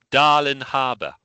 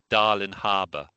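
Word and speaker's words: Darling Harbour: Darling Harour. Now you've got to pronounce the G.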